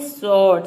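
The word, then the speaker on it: sword: देखिए यहां पे है शॉर्ट शॉर्ट का मतलब होता है तलवार इसमें भी देखिए शॉर्ट में हम व का साउंड नहीं आ रहा है शॉर्ट और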